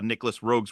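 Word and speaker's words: Nicolas Roeg: that it led me to more of uh Nicholas rogue's work is that how you say his name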